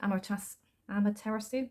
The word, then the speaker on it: Amaterasu: So this is, cannot pronounce that name for love and money, Amaterasu, sounds like tiramisu, right? But it's not.